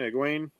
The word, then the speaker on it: Egwene: Egwene.